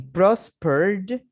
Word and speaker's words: prospered: Miren que agreed y prospered, yo no pronuncio la ed. En lifted, sí.